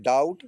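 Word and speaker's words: doubt: That दूसरी meaning है डाउट। देखो यहां भी बी टी के पहले बी आया है तो डाउट बी साइलेंट हो जाएगा।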